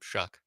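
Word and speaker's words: Shough: Shuck. Exactly. Doesn't matter. Exactly. It rhymes with suck.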